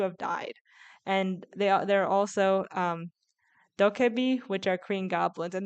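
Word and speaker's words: 도깨비: I'm gonna butcher this, but I think it's pronounced guishin, or spirits in Korean folklore, or humans who have died, and they're also dokebi, which are Korean goblins, and they're both shown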